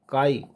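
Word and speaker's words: χ: बाय the symbol काई, उसको हम प्रोनाउंस करते हैं काई।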